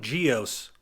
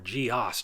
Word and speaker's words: GEOS: this question a lot will it run GEOS or GEOS depending on how you pronounce it uh yes it will